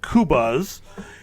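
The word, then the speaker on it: Qobuz: yet but it is a new platform called kubas and that's spelled q b u z and it is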